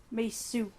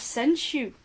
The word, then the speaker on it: Sensu: Misu. Misu. I've probably pronounced it wrong now. Oh no, it wasn't it? It was Sensu. Sensu, actually. Sensu, because you were saying shoe.